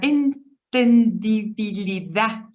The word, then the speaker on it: entendibilidad: Creo en la entendibilidad, así, con acento en la A, en la entendibilidad final de todas las cosas y en la de la poesía, por consiguiente.